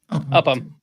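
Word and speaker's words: Upham: How do you pronounce that? Upam Upam. Uppam.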